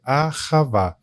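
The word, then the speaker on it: אהבה: Eh, eu mencionei que eu estudei um pouco do hebraico e é legal que a palavra amor em hebraico, a sua pronúncia é a ravá.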